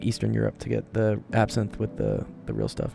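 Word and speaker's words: absinthe: It is pronounced absin. Absinth.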